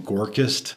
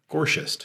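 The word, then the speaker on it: Gorchist: I used to call him Gorkist. CHI is a sh, so Gorshist.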